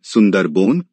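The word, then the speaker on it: সুন্দরবন: सुंदरवन बांग्ला उच्चारण सुंदरबोन भारत तथा बांग्लादेश में स्थित विश्व का सबसे बड़ा नदी डेल्टा है।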